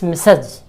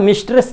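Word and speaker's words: Mrs: इस तरह से मेसस, मिसज, ये प्लूरल रूप इसका मिस्टर, मेसर। इससे भिन्न करने के लिए है, क्योंकि ये आता है स्त्रीलिंग में मिसिज, और उच्चारण मिस्ट्रेस नहीं।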